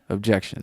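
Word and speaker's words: Objeckshun: At Objection. Everywhere, spelled phonetically. O-B as in boy, J-E-C as in Curtis, K as in Klondike, S-H-U-N. Objection.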